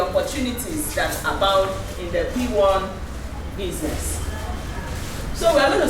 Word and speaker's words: PWAN: in on the opportunities that's about in the p1 business so we're going to start today by